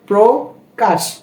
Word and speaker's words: প্রকাশ: যেমন পড়লেন প্রো প্রো এই শব্দটির প্রথমে রফলা রয়েছে এজন্য এর উচ্চারণটা ওকারান্তে হবে যেমন প্রো প্রকাশ যখন আমি এটা পড়তে